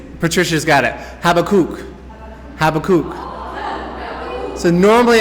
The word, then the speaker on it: Habakkuk: the first issue okay americans we want to call it habakkuk but specifically it's patricia's got it have a cook have a cook so